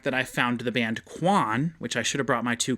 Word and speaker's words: Kwan: Go check out the band Quan. It's spelled Kwan.